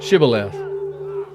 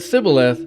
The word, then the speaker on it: shibboleth: would say the word shibboleth the men of Ephraim would not say that word correctly they pronounced the word civil left so if the men said sibileth then the men of